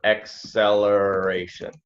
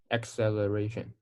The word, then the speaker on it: acceleration: it into here it sounds like you're saying a seller acceleration right so the the correct pronunciation would be almost like the C the first C is like an EXO like acceleration oh can you try to say that acceleration